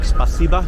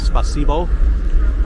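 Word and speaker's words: спасибо: ends with an O they don't pronounce it as o like the alphabet is supposed to be they say ah like spasiba instead of spasibo how it's spelled anyhow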